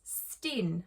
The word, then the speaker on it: S10: And the Netherlands, Steen, I think that's how you say it, even though it's like S10.